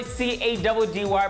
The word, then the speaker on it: Caddy: And this is your boy C-A-D-D-Y, pronounced Caddy, the freshest TV host in forever.